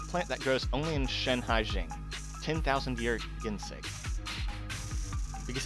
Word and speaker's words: Shanhaijing: I think I've always been pronouncing it Shanghai-jing, but it's Shanhaijing.